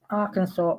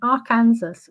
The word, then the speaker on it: Arkansas: So in 1881, Arkansas passed legislation officially declaring the corre the correct pronunciation of the state's name as Arkansas rather than Aranansas, which is how it looks like it's spelled.